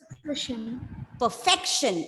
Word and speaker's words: perfection: Yes, 3 syllables. 1, 2, 3. Stress on the second syllable. How will you read it? Perfection. Exactly. It's perfection.